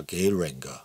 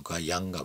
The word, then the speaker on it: Geiranger: Some say: Gayranger, or something like that, but the Norwegians pronounce it without R, so Geianger probably.